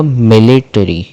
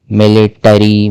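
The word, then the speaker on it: military: फिर दूसरा आ गया आपका मिलिट्री, मिलिट्री, मिलिट्री, मिलिटरी, मिलिटोरी, ऐसे नहीं, मिलिट्री, मिलिट्री।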